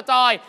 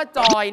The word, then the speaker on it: จอย: เหนือ เนี่ย นะ ครับ เรา จะ ออก เสียง ช ช้าง เป็น จ จาน จาก โชย หรือ ชอย ก็ เป็น จอย เช่น เชียงใหม่ เป็น เจียงใหม่